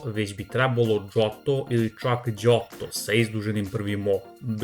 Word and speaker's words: Johto: You have an interesting mistake here: it's not pronounced "Yohto" but rather "jotto" even "Giotto"(initial sound J makes in juice) with the first "o" elongated.